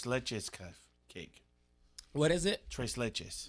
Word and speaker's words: tres leches: cake what is it tres leches that's what sergio had that i couldn't pronounce choice lychees cake yeah remember when i said i couldn't pronounce it it's spanish for three milk cakes yeah he uses he